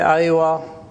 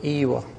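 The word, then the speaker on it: أيوه: In the cities they say Aiwa, in the countryside they say Ewa.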